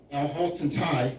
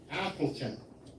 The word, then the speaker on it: Appleton: Officers Training Corps of Alhaltton Thai I'm sorry I know I'm pronouncing that wrong. Appleton. Yes. High School present colors.